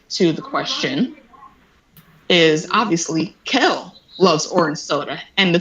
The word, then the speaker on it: Kel: I say Keenan and Kale, which I know is the wrong name, but that's just how I've always said it. Kale. It's Kel, but I say Kale.